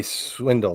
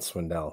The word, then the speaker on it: Swindle: It might be Swindle, not Swindell.